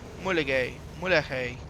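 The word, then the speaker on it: Mulegé: This is race 2, which we have also done in another episode, which is the Arch of the Mulegay.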